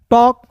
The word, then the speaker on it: talk: टॉक वॉक, टॉल्क नहीं पढ़ेंगे, वॉल्क नहीं पढ़ेंगे, इसे टॉक वॉक पढ़ते हैं, क्लियर है।